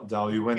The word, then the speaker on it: Dailuaine: It's don't pronounce the E at the end. Dailuaine.